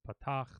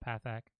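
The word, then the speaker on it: פַּתַח: hey Pathak doubling dot now I know it's a talk but nobody's gonna pronounce it that way at least in most of the courses the classrooms that I've been in so they they don't call this potox they call that path act sorry so hey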